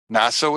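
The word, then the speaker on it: נשא: Naso is spelled Nun, and it's not a shin, but a sin, and an aleph. Naso.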